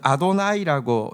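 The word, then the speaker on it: אֲדֹנָי: 여호와라는 단어를 유대인들은 아도나이라고, 이제 나의 주님이라고 읽는데, 나의 주님이 어떤 분인지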